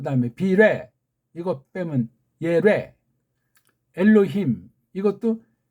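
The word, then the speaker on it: אלהים: 비레 이거 빼면 예레 엘로힘 이것도 그 다음에 힘 그런 감각이 없어요. 그러니까 미국에 많이 사는 사람은 엘로힘 그렇게 이제 발음하잖아요. 엘로힘 안에 엘로힘 우린 그게 돼요. 근데 엘로힘 혀가 꼬부라져요. 술 먹은 사람처럼.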